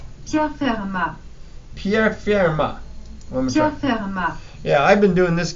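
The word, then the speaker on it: Pierre Fermat: closely you'll hear the computer pronounce his name as Pierre ma yeah I've been doing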